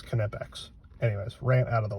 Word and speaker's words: Knipex: there on there YouTube telling you how to pronounce it it's connects anyways rant out of the way so these